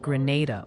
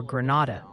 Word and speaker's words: Granada: Multiple people are saying Granada, Minnesota is pronounced more like Grenada or Granada. You know, like the explosive device, not the fancy Spanish city.